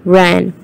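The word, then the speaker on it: wren: n so the first is w and the pronunciation is ran the second is a fairy who lives underground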